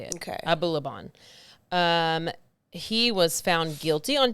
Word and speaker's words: Abulaban: So TikToker Ali Abulaban. That's exactly how you say it. Okay. Abulaban.